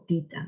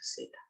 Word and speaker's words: zeta: Antes decíamos teta, ¿no? O tita, ¿no? Y estoy investigando y se pronuncia zeta.